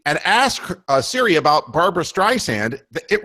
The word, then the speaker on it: Streisand: ask Siri about Barbara Streisand, it refers to her as Streisand instead of Streisand, like sand in a desert.